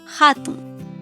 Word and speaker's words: hatun: La letra H en el quechua se pronuncia como la letra J. Por ejemplo, hatun se escribe con H y se pronuncia hatun.